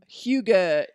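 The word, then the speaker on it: hygge: drinking a hot cocoa it was the huge Hyuga movement oh my god that's how you say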